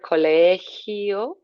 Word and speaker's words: colegio: Watching the word colegio, just nice like gimnasio, nice sound on the back of your throat.